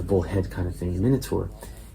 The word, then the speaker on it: Minotaur: Minotaur or minur in British English pronunciation and the hands are